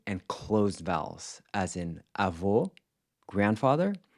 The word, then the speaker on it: avô: The other one was distinguishing between open and closed vowels, as in avô, grandfather, which is pronounced with a closed O, and avó, grandmother, which is pronounced with an open O.